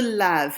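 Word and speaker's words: lavent: Il se lave. It sounds exactly like the se lave up above it because the ENT is silent.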